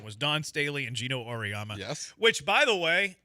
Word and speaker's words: Auriemma: Gino Auriemma. Auriemma, apparently.